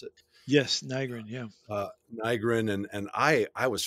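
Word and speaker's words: Nygren: And then Nigrin, is that how you pronounce it? Yes, Nigrin, yeah.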